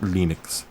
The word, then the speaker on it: Linux: the message yeah it's lenux my name is lenux thals and I pronounce it Linux uh so it's got It's Linux it's just Linux we're running